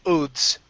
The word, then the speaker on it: oaths: Let's go to the most solemn oaths.